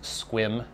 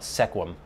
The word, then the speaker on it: Sequim: It's spelled S-E-Q-I-Q-U-I-M, but it's pronounced Sequim. If you're from Washington, you would know that. It's not Sequim.